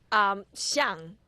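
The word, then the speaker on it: 象: Xiang, which is very similar to xiang.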